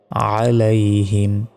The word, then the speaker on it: عليهم: দেখুন, আলাইহিম যদি বলি এখানে আইনের জায়গায় আলিফের উচ্চারণ করে ফেললাম, তখন তো আমাদের ভুল হবে। এখানে আছে আইন, আইন জবর হয় আ, গলায় চাপ দিয়ে আইন অক্ষর উচ্চারণ করতে হয়, আলাইহিম।